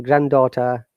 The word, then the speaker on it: granddaughter: one so grandchild grandson granddaughter can you see can you see the ipa there is no double d grand daughter next is